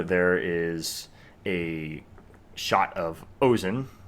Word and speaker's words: Ozen: is a shot of ozen or ozen to pronounce it correctly from made in abyss